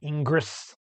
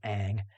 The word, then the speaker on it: Ingres: and by the way i know it's spelled it looks like it should be ingress it's french so his last name is aang and aang is painting